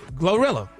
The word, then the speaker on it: GloRilla: Glorilla. Oh, is she around? Go look. Oh, go look at her. Don't forget that L. Glow, not go.